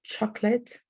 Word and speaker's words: chocolate: uh-huh two syllables exactly so when we look at this word you know it looks like it has three syllables but actually the middle syllable here is like reduced to zero so we say chocolate instead of chocolate okay we don't say the the second one so here we just have two syllables chocolate okay like that